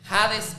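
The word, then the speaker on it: ᾅδης: Sheol en hebreo, jades en el griego, porque jades en el griego se pronuncia como una J, pero es muy curioso porque la letra J se inventó en el en el 1500.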